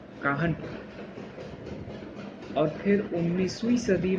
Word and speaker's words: Kanhpur: तो 1207 में राजा कान्हदेव ऑफ कानपुरिया clan, ठीक है, establish the village of काहनपुर। मतलब कि एक, इट्स नॉट कानपुर, इट्स the spelling of this is KANHPUR, काहनपुर।